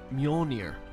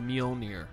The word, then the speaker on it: Mjolnir: __ ] grasshopper the Mjolnir Mjolnir it's called the meal near I think that's how you pronounce it I've had my eye